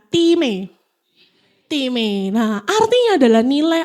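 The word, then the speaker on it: τιμή: Anes itu diambil dari kata Yunani, bacanya time. Sekali ikut ya, time.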